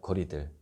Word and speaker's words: 고리들: 그래서 코어 리들 하면은 고리들하고 코어 리들하고 거의 발음이 비슷하더라고요.